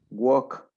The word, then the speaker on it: walk: will find in a never pronounced letter l when the the the words include that for example talk walk no no you don't pronounce it yeah nice dog walk